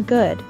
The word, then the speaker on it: good: Note that the double O in good is an sound, which we pronounce by raising the back of our tongue while rounding the lips and moving them forward a little.